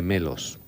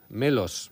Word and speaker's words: Melos: Melos. ¿Cómo suena? Sí. Como melón, pero con ese.